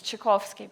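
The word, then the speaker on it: Czarkowski: me on social media it's chovsky by the way yeah I'm this is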